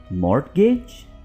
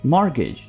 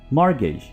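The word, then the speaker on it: mortgage: मॉर्टगेज? हरगिज़ नहीं, आप इसको बोलेंगे मॉर्गेज, मॉर्गेज।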